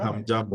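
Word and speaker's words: hamjambo: jumbo, ham Jumbo, jumbo, ham jumbo, ham jumbo, Leo Sikumatana. Okay. Okay. I guess maybe I didn't pronounce that right. Yeah. You pronounce it right. So you said Right. ham jumbo, which means hello everyone.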